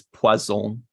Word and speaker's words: poison: It's poison. Poison. Similar to poisson, which is fish.